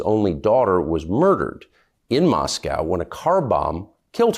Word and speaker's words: Moscow: first of all Tucker It's Moscow if you're going to speak you can at least say it correctly sorry I couldn't help